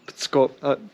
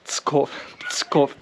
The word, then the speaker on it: Pskov: Petersburg is very close, Tallinn is very close, Riga, and also the Russian city of Pskov. Pskov. It's spelled like this.